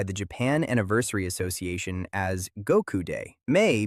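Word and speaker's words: 五: In Japan, May 9th is officially recognized by the Japan Anniversary Association as Goku Day. May because in Japanese the number 5 is pronounced go, and the number 9 is pronounced ku.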